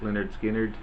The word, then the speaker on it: Lynyrd Skynyrd: awesome album great southern rock band Lynyrd Skynyrd's pronounced Lynyrd Skynyrd and the hits off of this one you've